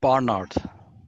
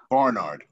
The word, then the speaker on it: Bernard: Well, the governor himself pronounced his surname Barnard. Barnard. And I know Americans pronounce it Bernard, but use whichever version you wish.